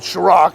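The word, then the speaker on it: Cîroc: some time ago um called shro it's spelled with the c and it's top shelf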